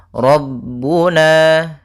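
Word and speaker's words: رَبُّنَا: Qalu rabbuna, ra-nya tebal, rabbuna.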